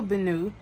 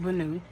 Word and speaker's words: Benu: so I have a bonu and I'm pretty sure that's how you say it bonu um because that's how everyone was pronouncing it I just wanted to make sure I was pronouncing it correctly so I have a